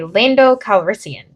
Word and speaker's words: Lando Calrissian: I'm going to play Lando Calrissian.